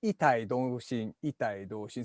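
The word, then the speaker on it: 異体同心: It's not quite the pronunciation. It's actually itai doshin.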